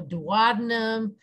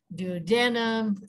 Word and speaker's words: duodenum: it is called the duodenum this pronunciation is very Regional so duodenum duodenum you know our various versions of the same thing as I said